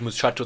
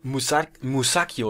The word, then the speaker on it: Musacchio: Ach nee, der heißt gar nicht Muchacho, sondern Musacchio. Wird wahrscheinlich nicht Muchacho ausgesprochen.